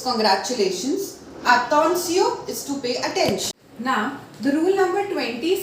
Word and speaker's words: attention: If T-I-O-N come together, we are going to pronounce it as Sion. For example, salutation, salutation, félicitation, félicitation, attention, attention.